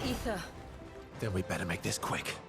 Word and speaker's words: Aether: the uh Lisa it's ether we better make this quick what happens if there's ether in there I thought it was always pronounced Aether I guess the a is silent ow stop chasing me